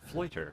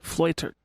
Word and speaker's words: Fleuter: Fleuter. Fleuter. Like loiter, but with an F.